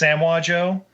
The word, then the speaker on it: Samoa Joe: being pl voiced by samoa joe from wwe baby i love i love king shark he's in it's pronounced samwa joe my bad because you know hobson